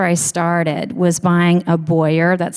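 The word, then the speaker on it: Beurer: So that's where I started, was buying a Boyer, that's spelled B-E-U-E-R, infrared heat lamp off of Amazon, and just trying it.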